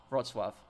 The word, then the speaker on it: Wrocław: How do you pronounce Wrocław? Wrocław.